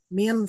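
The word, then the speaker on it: من: Min artinya dari dibacanya min ya. Kalau dibaca man nanti beda lagi.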